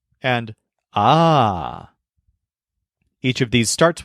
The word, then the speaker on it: he: sees you he says a but when you start addressing him he says Ah because he wants all the attention on himself so the word a spelled h e means have as in I